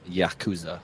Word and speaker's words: Yakuza: pronounced Yakuza.